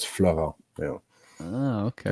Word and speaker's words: Florent: Yeah, it's Florence. No, it's not Florence. It's Florent with a T, so it's Florent. So you don't pronounce the T. So yeah, it's Florent.